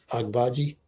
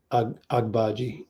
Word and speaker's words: Agbaji: Is it how do you pronounce that? Agbaji. Agbaji, yep.